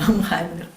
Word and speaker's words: Unheimlich: Que, bueno, que Freud decía el Unheimlich, bueno, pronunciación alemán, pero bueno, Unheimlich.